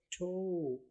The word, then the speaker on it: toe: اس کے علاوہ اس میں ای کی کوئی آواز نہیں ہے. اسپیلنگ میں تو آپ نے ای یاد رکھنا ہے TOE ٹھو, لیکن آواز اس کی TO جیسی آواز ہے ٹھو.